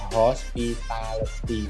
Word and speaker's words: hospitality: Pak Yerli itu memang hospitality itu ada hospitality itu kan ada 5 syllable ya. Memang tekanan di situ.